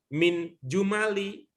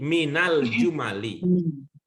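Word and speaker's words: من الجمل: Jadi ini yang ada alnya ini bacanya bukan min jumali, tapi minal jumali. Ya, minal jumali.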